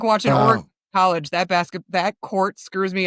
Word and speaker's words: Oregon: Like watching Oregon College, that court screws me up so bad.